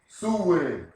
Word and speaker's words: Samhain: to the festival of samhain pronounced su-wing the septic new